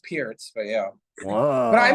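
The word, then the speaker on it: Pirc: Philindor defense or the Perk defense. Is that a thing? Yeah. Well, it's pronounced Pierce, but yeah.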